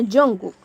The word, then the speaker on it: Jungkook: Sí, pues se pronuncia Jungkook.